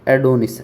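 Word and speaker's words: Adonis: Pronunciation है इसका। एडोनिस एडोनिस।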